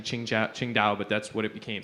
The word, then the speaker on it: Qingdao: over to the locals due to the pronunciation it's actually qingdao but that's what it